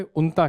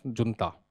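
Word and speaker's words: junta: see your question is that for situation in Myanmar should be talk to उसको पहले उनता कहते हैं नॉट जता व्हेनएवर एन आर्मी ओवर थ्रोस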